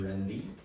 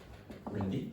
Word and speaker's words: randy: Pronounce E at the end of that word. Randy. Randy?